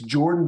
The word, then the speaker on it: Jorphdan: It's Jordan, but it's spelled with a Jorphdan.